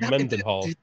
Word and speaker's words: Mendenhall: Yes, you did, because it is pronounced as it's spelled, Mendenhall.